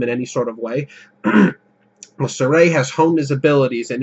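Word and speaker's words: Sorey: you got um the main character Sur thank God that's how you pronounce it this whole time I thought it was going to be Sor I would refuse refuse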